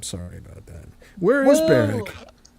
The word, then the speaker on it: Berwick: I'm an American. I have to pronounce the W. It's Berwick, right? It is Berwick. It is indeed.